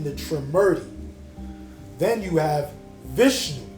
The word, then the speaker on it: Vishnu: Like bishu. Is that how you pronounce it? Bish. Vishnu.